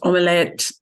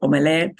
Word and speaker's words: omelette: And notice they pronounce omelette. That comes from French and they don't really change it. They keep it omelette.